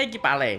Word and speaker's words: iki palek: Oh oh itu oh itu bacanya ikipale.